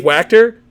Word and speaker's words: Wachter: And then my man Dave Wachter rhymes with tractor.